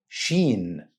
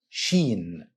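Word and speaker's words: شين: Sheen. Sheen. Another good news, this letter has English counterpart, which is SH. Same sound for SH in the English word ship.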